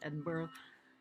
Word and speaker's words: Edinburgh: um if you look at it it is pronounced Edinburgh not an bird it's a mispronunciation um if